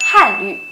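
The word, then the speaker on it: 汉语: Itu tuh harusnya dibacanya nada 4 dan U-nya itu bukan U tapi U. Jadi yang depan itu Han, bukannya Han. Terus yang belakang itu bukannya Yu tapi Yu. Jadi dibacanya Han Yu.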